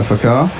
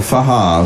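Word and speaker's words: Fakhar: It's a good run and catch by Fakar. Or Fahar, as we found out the other day. The K is silent.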